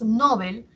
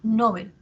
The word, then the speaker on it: Nobel: la tónica menor intensidad si nosotros por ejemplo pronunciamos Nobel estamos haciendo que la sílaba tónica sea en esté en no cierto y mientras que Bel hacemos que sea la átona Nobel el premio Nobel decimos en nuestras variedades de uso que está como muy